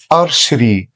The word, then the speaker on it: archery: archery، archery، archery. يعني ايه archery؟ معناها الرماية. أرشري معناها الرماية. هنا نطقت السي اتش نطقتها شه.